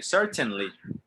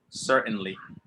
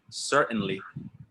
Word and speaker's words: certainly: the t they say certainly mountain but with american english you don't really pronounce the t in that case that is the that